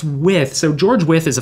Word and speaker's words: Wythe: So Withe is named after George Wythe, and it's spelled W-Y-T-H-E. And I'll constantly have people say to me, oh, I heard I should live in Wythe, is it? And I'll say, no, it's Withe.